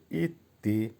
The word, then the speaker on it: идти: দেখেন প্রথম ভার্বটা হবে ইত্তি উচ্চারণ হবে ইত্তি যখন পায়ে হেঁটে যাবেন